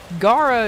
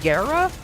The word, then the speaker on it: Gara: Like Gar is apparently Gara and I was like uh no it's it's it's Gar.